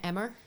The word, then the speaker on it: Emer: You say, Emer like lemur. Yeah, well, that's what I say. I'm like, lemur? Emer rhymes with it.